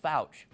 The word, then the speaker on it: Fouch: One clue, his last name rhymes with couch. But as Pat Chiesa will tell you, this guy, no couch potato. Here's why you should vote for Mitchell Fouch.